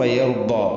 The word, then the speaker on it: يرضى: വലസൗഫ യർദ, വലസൗഫ യർദ. ഇവിടെ ദ്വാദിന്റെ ഉച്ചാരണമാണ് പ്രധാനമായിട്ടും പ്രത്യേകിച്ചും ശ്രദ്ധിക്കേണ്ടത്. ദ്വാദ് അണപ്പല്ലുകളോട് ചേർന്നാണ്, നാവിൻ്റെ ഏതെങ്കിലും ഒരു സൈഡ് അണപ്പല്ലുകളോട് ചേർന്ന് ഉള്ള രൂപത്തിലാണ് വരേണ്ടത്.